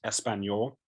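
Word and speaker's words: Español: But he said that he pronounced Espanol. So there's no S.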